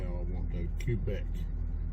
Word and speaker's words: Quebec: how I want to Quebec it's a big cue and then back Quebec is how you actually